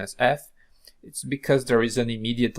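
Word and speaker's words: φ: the Latin alphabet and we are going to pronounce it exactly as F here uh the ancient Greek pronunciation of f was probably not exactly F but something like P P which is a p Follow by aspiration it's a kind of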